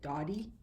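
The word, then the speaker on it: Dodi: It's spelled D-O-D-I. Okay, Dottie.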